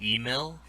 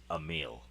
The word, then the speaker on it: Emil: email? Emil. Ear. Mill. I've So- asked him. I've talked to him and asked him how to pronounce his name, and he says Emil.